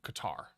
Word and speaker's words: Qatar: the World Cup in Qatar or Cutter however you want to pronounce it cutter and so he had